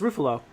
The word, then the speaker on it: Ruffalo: It's pronounced Ruffalo.